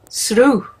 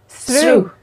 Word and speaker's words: Sruth: And I think you're going to clarify, how do you say it correctly? Srú. Srú. Yeah, Srú. I don't know.